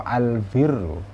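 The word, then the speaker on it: البرّ: juga harus hati-hati bacanya al-birr rupanya dibaca kasroh al-birru kebaikan ya Hai kalau dibaca fat hal baru artinya orang yang baik atau sesuatu yang baik itu Al baru tapi kalau dibaca bom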